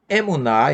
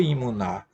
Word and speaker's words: emuná: A palavra emuná, em hebraico, pode ser pronunciada emuná ou imuná.